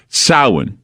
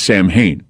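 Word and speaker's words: Samhain: it's it's concurrent with what goes on with SA or what most people mispronounce as Sam ha and then there's IMU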